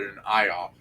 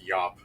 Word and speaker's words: Iop: is called IOP and I used to call it an IOP but it's actually pronounced yop y y so yeah